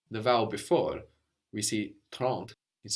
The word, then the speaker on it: trente: Trente. Good, and that's spelled Trente. So the N doesn't just disappear, it gets swallowed into the nose a bit, and that affects the vowel before. We see trente is spelled with an